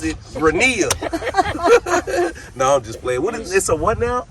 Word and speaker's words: Grania: Grenia, but I'm Grania 07.